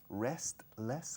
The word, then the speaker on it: restless: Restless, como sin descanso. Restless, yes. Restless. Restless. La T no se dice.